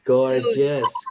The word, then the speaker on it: gorgeous: Ee jangankan ee itu ya guys, kadang satu kata ada dua huruf yang sama itu pun juga bacanya beda ya. For example contohnya ini nih gorgeous.